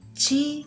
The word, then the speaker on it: ち: Instead, we have Chi sound. So this hiragana letter represents the pronunciation of Chi and not T.